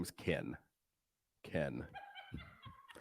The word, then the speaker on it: Ken: name is Ken Ken Ken Leslie keeps telling me Ken doesn't have two syllables but my name is